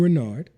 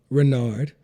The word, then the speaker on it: Reynard: I'm Renard. I will be your host. And again, there will be several topics that we'll be discussing. My middle name is Renard, and it's spelled Reynard.